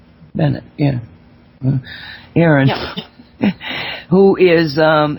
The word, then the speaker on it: Bennett: have Aaron Bennett who is a did I pronounce that right Bennett yeah Aon who is um has written a